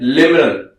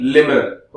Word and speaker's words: LIMMRNN: और इसके लिए हमारे पास एक निमोनिक भी है, जिसका नाम है लिमरन। सिमरन नहीं, लिमरन। ओके, स्पेलिंग इसकी थोड़ी ध्यान से देखो, LIMMRNN, लिमरन।